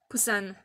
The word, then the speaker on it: Busan: Busan, ça se prononce comme ça en vrai.